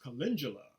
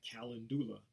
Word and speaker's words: calendula: nutrition next up is calendula a lot of people they pronounce or call it uh calendula it looks like when you look at it it looks like calendula but it's actually calendula also known as marigold